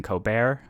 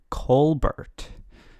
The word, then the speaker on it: Colbert: moment with him because he goes by stephen colbert but apparently when he was younger he went by steve colbert which is you know the same name just not pronounced in a french way but i have like